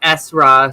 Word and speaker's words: Esra: about saying it wrong, but it's just Esra, so it's just like my nickname.